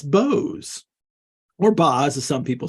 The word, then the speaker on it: Boz: it for his, and that's why you can pronounce it Bose instead of Boz, because we know it comes from Boses, from Moses.